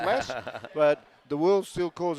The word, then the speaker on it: Las: sorry in las vegas people still say loss i don't know why it's pronounced less but the world still